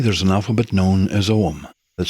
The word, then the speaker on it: Ogham: In Druidry, there's an alphabet known as Ogham, that's spelled O-G-H-A-M.